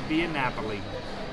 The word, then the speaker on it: Via Napoli: the name for me michelle astor can you pronounce it for us and it's a via napoli so we are here at biennapoli in the